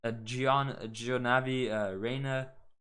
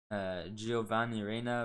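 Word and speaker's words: Giovanni Reyna: Gionavi Reina, Giovanni Reina, of course, I've said it wrong.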